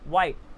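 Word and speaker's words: white: तो Y again silent, वाइट, तो again H के पहले डब्ल्यू आ गया जिसके कारण वो साइलेंट हो जाएगा।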